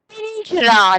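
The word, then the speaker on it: पिंजरा: I'm saying nya sound because the next second letter is ja and that come in cha varga. So cha varga pancham sthan letter you have to pronounce whenever you are pronouncing this word pinjra.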